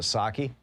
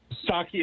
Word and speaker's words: Psaki: Yeah, although I think the P is silent, isn't it? Isn't it Psaki? Psaki, is it?